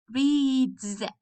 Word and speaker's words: reads: number one number one we have read reads the sound is z z okay number two we